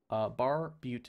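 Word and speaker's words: barbute: Let's wear the bar boot helm. Am I pronouncing that right? Bar boot? Bar Butte Helm. Yes.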